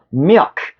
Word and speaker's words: milk: 밀크 발음. 여기 발음으로 우리나라에서 되게 강조 하는 거 있다. 그지? 그다음에 미크 요거 진짜로 미국식 발음은 우리나라 미역 있지? 미역 미역에다 크만 붙이면 돼.